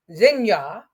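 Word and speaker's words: Xinhua: Uh, Comcast owned partnered with Zena, state news agency. It's spelled X I N HUA in 2010 for content sharing.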